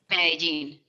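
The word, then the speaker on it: Medellín: Did I pronounce that correctly, Alexandra? Medellin.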